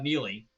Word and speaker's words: Neagley: seasons uh as uh Neely although it's spelled differently it's spelled EA NE a GLE so the g is silent um she's great she's